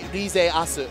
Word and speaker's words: Rizeasu: Rizeasu.